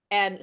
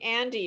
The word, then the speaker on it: and: Okay, number two, Andy. Okay, saying Andy instead of and the number one problem, is subtracting the last Y.